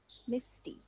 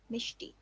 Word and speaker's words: Misti: So that's how I pronounce my name. It's Misti, not Mishti.